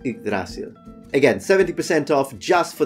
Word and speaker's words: Yggdrasil: And they've also got some amazing t-shirts, such as this one representing the, let's try and use Old Norse pronunciation, Yggdrasil.